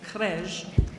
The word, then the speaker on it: Krej: I practiced that pronunciation, Krej, all right?